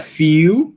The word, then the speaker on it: feel: Se você disser feel, aí não tem schwa, né? Aí se você pronunciar o lã do jeito que é para ser, feel, você tem que passar pelo sonzinho do schwa, não tem para onde. É uma característica de realização desse som.